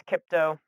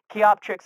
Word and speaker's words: Kioptrix: one i abbreviated as kipto uh even though that's obviously not how it's spelled it's just kind of a bad habit i've picked up keop tricks is how you're supposed to say it i